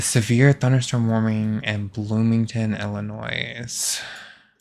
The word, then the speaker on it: Illinois: Illinois pronounced with silent s.